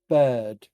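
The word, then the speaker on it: Baird: taking fastidious notes and um to father reginald bird b-a-i-r-d who is the head cleric of center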